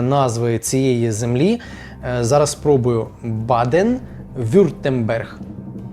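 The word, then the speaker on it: Baden-Württemberg: масив у цій землі досить складно дається мені вимовлення назви цієї землі Зараз спробую Баден вюртенберг Баден вюртенберг так правильно дуже мені чомусь складногодається саме назва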